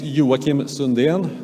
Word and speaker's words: Joakim Sundén: bit uh now and my name is yakim sunnd that's how it's actually pronounced I'm I'm from the